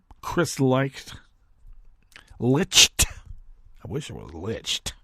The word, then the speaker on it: Licht: what Chris liked is that is how he pronounced his name Chris liked Licht I wish it was lynched anyway Chris liked